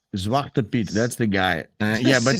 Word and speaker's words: Zwarte Piet: Yeah, Zwarte Piet. Zwarte Piet.